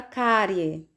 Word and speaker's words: cárie: Temos a palavra cárie. Cárie. Sílaba mais forte, cá. Então, última, penúltima. Paroxítona terminada em ditongo. Deve receber acento, cárie.